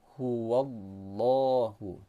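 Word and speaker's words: هُوَ اللَّهُ: Yang kedua, lafaz Allah ini dibaca secara tebal atau tafkhim karena huruf sebelumnya berharokat fathah. Jadi cara membacanya huwallahu, jelaskan.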